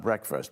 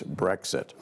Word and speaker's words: Brexit: So the first one was, what is Brexit, not breakfast, but what is Brexit going to do with the rest of the world? And I'm still failing to pronounce it correctly. It's Brexit.